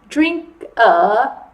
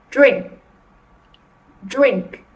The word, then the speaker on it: drink: And they might add an extra syllable. So they might say something like drink a, okay? So you want to show them that you need to stop at drink and not add that extra And you can do that like this.